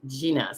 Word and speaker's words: Gina: Gina with the 3 A's says it's pronounced Gina. So it is Gina, like a G.